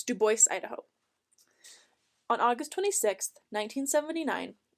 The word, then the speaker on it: Dubois: Duboce, Idaho, 1916. population 233. And before any of you come at me, it is pronounced Duboce, not Dubois. I double checked multiple times. So, it's Duboce, Idaho.